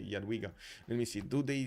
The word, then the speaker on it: Jadwiga: Maybe he actually saw it, or Jadwiga actually, I should say Jadwiga.